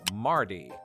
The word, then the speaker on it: mardy: in words like, well, Mardy. Aside from the fact that it sounds like the name Marty in American English, Rhotic speakers in the